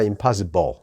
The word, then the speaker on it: impossible: 이렇게 소리가 나야지 정확하게 발음하시는 겁니다. 불이 아니라 impossible이 아니라 impossible 이렇게.